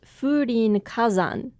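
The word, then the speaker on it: Fūrinkazan: one for Mountain uh this is typically pronounced furin Kazan and is a quote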